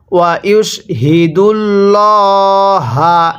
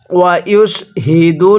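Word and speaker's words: وَيُشْهِدُ اللَّهَ: এরপরে ওয়া ইউশহিদুল্লাহা, হ্যাঁ, স্মরণ রাখবেন এই গোল হাগুলো উচ্চারণ করার সময় মুখ দিয়ে হালকা আওয়াজ করে পড়তে হবে।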